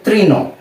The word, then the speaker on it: তৃণ: একটি রিকার দিয়ে দিই, তাহলে এর উচ্চারণ হবে কি ত রিকার ত্রি, ত রিকার ত্রি। এরপর যদি আমরা একটি মূর্ধন্য লিখি, এই লিখলাম একটি মূর্ধন্য, তাহলেই হয়ে গেল কি তৃণ, ত রিকার ত্রি মূর্ধন্য তৃণ।